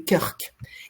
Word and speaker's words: Krk: c'est juste parce que la prononciation croate franchement c'est pas un cadeau c'est-à-dire qu'il y a que des consonnes donc pour comprendre Krk ça fait kurk et donc au débouché